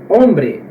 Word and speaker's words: hombre: esta lei pra galera é muda então por exemplo aqui obre hombre podemos ver que ele muda até palavras galera